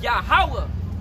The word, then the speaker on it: Yahweh: The O is pronounced in what looks like an O in ancient Hebrew. It's pronounced as an I. Yeah. So that name there is supposed to be Yahweh. Yahweh.